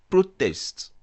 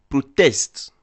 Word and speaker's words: protest: Par exemple, quand je dis le mot anglais protest, je veux signifier le nom manifestation. Par contre, si je dis protest, j'implique le verbe manifester.